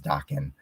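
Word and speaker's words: Daken: gonna always call him Dawkin or Dakin however you pronounced it I believe the correct term or correct way to pronounce it is Dawkin um but to some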